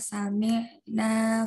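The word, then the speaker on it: سمعنا: Saat huruf ain sukun itu fokuskan ke tenggorokan tengah.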